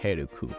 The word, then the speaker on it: Helk: Helk is about a hero named Helk, pronounced like Heruku.